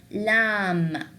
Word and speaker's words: lamb: The B, we will not pronounce it, and the M, we will pronounce it. Like what? Like for example, if you have the word lamb, lamb, you will not say lamb, although there's a B in there.